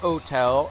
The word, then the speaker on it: hotel: Didn't originate as... aspirate the H. And that's why you would say an hotel, as the French would pronounce it an hotel. So people who say it in an hotel are really mashing up.